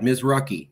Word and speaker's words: Mizruchi: And we pronounced it right. Mizruchi.